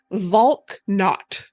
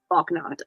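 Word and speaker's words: Valknut: Volknot. Yes. Volknot.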